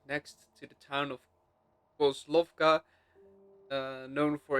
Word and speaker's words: Kozlovka: Back to coke lava. No, Kozlovka. I keep mispronouncing.